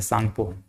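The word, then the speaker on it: Tsangpo: कहा जाता है ऐसे, तो सांगपो लिखाता है, लेकिन ये टी साइलेंट रहता है, सांगपो, ये सांगपो बोलते हैं इसको।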